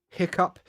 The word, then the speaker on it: hiccough: So sneeze, hiccup. Also, you might see another spelling of hiccup. You might also see it like this, like hiccough. The pronunciation is the same.